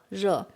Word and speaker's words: 热: This R with it pronounced like, this R is like so 热. At the beginning, you feel you cannot pronounce that clear. And even you say 热 and 热 and 热, it's not a big